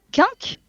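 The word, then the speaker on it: Quinque: Chimère, Quink, Red Chill. Je sais pas du tout. Attends, redis. Comment, dans Tokyo Ghoul, comment s'appellent... Oui, là, les propos. Ah pardon, excuse-moi. Kagune, Kag- Chimère, Quink, Red... Quink.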